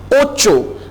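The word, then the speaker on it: ocho: ओचो, अब ओचो बिल्कुल वैसे ही आप प्रोनाउंस करेंगे जैसे आप प्रोनाउंस करते हैं ना सोचो, सोचो, इसी तरह आप कहेंगे ओचो।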